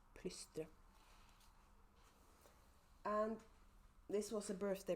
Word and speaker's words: Plystre: And it's pronounced plystre. Just so you know, it's plystre.